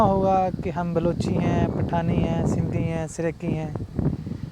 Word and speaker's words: پٹھان: بیٹا یونائٹی نہیں ہوتا، یونٹی ہوتا ہے، اور پٹھانی نہیں ہوتا، پٹھان ہوتا ہے.